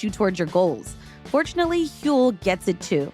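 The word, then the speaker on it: Huel: Fortunately, Hule gets it, too. It's spelled H U E L.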